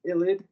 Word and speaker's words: ylide: Let's look at the ylide. The Wittig reagent is a phosphorus ylide, that's how it's pronounced, in which a carbon atom acts as a nucleophile.